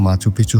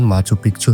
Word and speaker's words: Machu Picchu: স্পেনীয় উচ্চারণে শহরটির নাম মাচুপিচু হলেও অনেকের নাম উচ্চারণ করেন মাচুপিচু হিসেবে যার অর্থ পুরানো চূড়া।